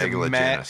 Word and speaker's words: Megalogenis: Wondered how you pronounce his surname. Yeah, he's Megalogenis.